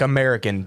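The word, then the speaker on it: Mariken: Yes, it's not spelled like American. It's just a weird spelling. Merriken. Yes, that is American.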